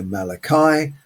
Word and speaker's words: Malachi: But uh there is a reason I think that Joyce has called him Malakei and we have to pronounce it slightly differently and we go Malachi.